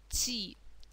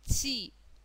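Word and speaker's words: ち: Следующий слог «ти». Это нечто среднее между «ч» и «т». Да? Не похож слог по произношению ни на «ч», ни на «т». Что-то среднее. «Ти», «ти».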